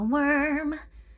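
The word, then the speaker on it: wurm: So, what is a worm? Pronounced worm, W-U-R-M. Or if you want to try to get real fancy, go Wyrm. That's not fancy. That's gross. Don't say that.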